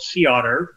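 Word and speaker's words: CEOTR: on our fleet that i operate it's called sea otter which is actually spelled c-e-o-t-r okay i forget what the acronym stands for pronounce the otter but anyway you can look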